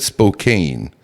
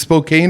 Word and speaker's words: Spokane: cues from you on how to enunciate and pronunciate things and you could cut this out if you want to you said Spokane yeah oh Spokane is it Spokane or is